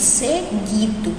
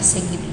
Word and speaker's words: seguido: No caso do seguido, a mesma coisa, né? O U não existe, a gente não fala seguido, a gente fala seguido, né? É como se o U não existisse.